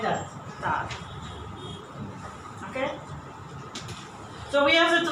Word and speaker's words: Tag: By the way, Tag, pronounce it like that. You have to pronounce it like that. Tag.